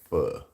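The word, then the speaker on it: phở: is f restaurants a lot of people like fur F it's spelled p h but it's like Vietnamese soup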